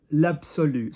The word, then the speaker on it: absolu: L'absolu. So A is higher than you want to take it. So absolu. U. U is going here. So not absolu, l'absolu.